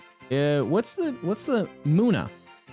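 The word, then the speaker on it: Munna: what's the what's the muna muna or mana depending on how you want to say it wrongly it's not claimed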